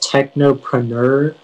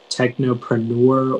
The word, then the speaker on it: technopreneur: Yeah, so it can be pronounced technopreneur, technopreneur, or technopreneur.